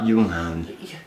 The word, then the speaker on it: Junghans: Junghans.